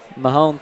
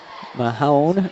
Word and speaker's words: Mahone: Mahone throws it in. Did I say it right that time? No, it's still Mahon. Mahon? I don't know. That's a short O, not a long O. Mahone throws it out to